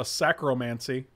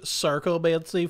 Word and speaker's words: Sarcomancy: else is playable here there's a sacromancy uh it's pronounced sarcomancy frank okay well you got